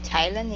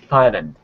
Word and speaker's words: Thailand: Maybe Thailand, even though it's spelled TH, but it's Thailand, not Thailand. Right? Yeah, it is Thailand. It's got a hard T at the beginning.